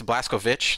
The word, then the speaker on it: Blazkowicz: They pronounced his name right because it's Blazkowicz. Like you have to kind of like they say it like that.